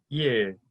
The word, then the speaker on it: 일: The tip of your tongue will go to the roof of your mouth for that RL sound. And so it will sound like 일, 일.